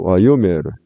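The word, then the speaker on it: וַיֹּאמֶר: 어떤 때 이동이 되냐면은 말음절이 이처럼 닫혀 있고 제2말음절이 열려 있을 때 말음절에 있던 강세가 이렇게 이동을 하는 것입니다. 그래서 와이오메르 이렇게 발음이 됩니다.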